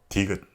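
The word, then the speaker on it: 디귿: This consonant is called tigut, and this is how you write it. Tigut has the sound when you pronounce niun, but your tongue has to touch the roof of your mouth above the front teeth and released. This ended up creating a sound like a D sound. Tu, tu, tu. For example, if you combine tigut with it pronounces as ta, ta, ta, ta.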